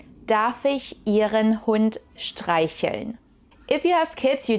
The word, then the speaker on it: streicheln: It's a little bit difficult to pronounce with the sh sound, for which you need to press air through this tiny gap between your teeth and you pull your lips to the side. Sh, sh, streicheln.